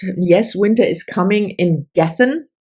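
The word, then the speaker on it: Gethen: winter is coming in gethin that's how I pronounce it it's g-e-t-h-e-n and we followed two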